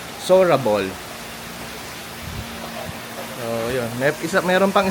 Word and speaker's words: Seorabeol: kasi So yun ang proper pronunciation pa lang nitong hotel is sorable.